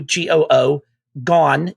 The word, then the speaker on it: Goo Gone: slime named goo gone pronounced gu g-o-o gone g-o-n-e goo gone living in our paladin